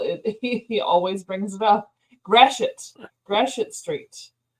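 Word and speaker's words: Gratiot: it grash it straight I feel like it' be grat or something I know and that's what I said the first time was gradot and he's like no that's wrong it's Gret like all right like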